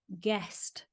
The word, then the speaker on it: ghost: even a rabbit now the word ghost in northern England used to be pronounced guest and the name bar